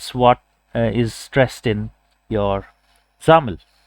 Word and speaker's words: XAML: to xml which is xaml uh you know pronounced as xaml right so uh all the windows applications the